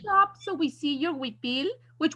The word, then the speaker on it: huipil: speak up so we see your huipil, which huipil is Huipil, but you can Yes.